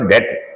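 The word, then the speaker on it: debt: इन डेट इन preposition डेट इससे B silent रहेगा डेट जो कर्ज में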